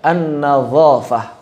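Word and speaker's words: النظافة: Padahal harusnya an-nazofah, bukan nazofah.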